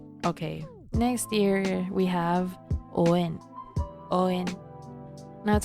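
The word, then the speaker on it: O'en: Okay, next here we have Owen. Now it sounds like Owen, so it's a pretty cute nickname if ever I do have a child named Owen. But it's actually Owen.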